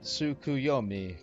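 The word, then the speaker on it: Tsukuyomi: you claim the table it's pronounced suku yomi correct a figure from Far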